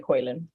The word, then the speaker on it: Koilan: I'm okay, call me whatever you want, but no, tell me how you pronounce it. Koilan. Yeah, you said it right, Koilan.